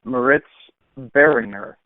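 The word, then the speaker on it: Moritz Böhringer: seen this guy actually wrote down how to pronounce his name uh meritz Beringer uh he six4 225 pounds runs a 40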